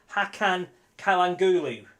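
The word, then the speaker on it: Hakan Çalhanoğlu: people close your eyes this is he right hakan kalang gulu is how you say his name he is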